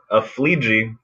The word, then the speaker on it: Aflleje: what's your last name yeah it would be a flea ji which is strange because if you say it right you're saying it wrong challengers comics